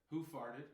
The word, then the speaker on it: Hoof: All right, this is Hoof Brewing, and I believe they want us to pronounce it Hoof.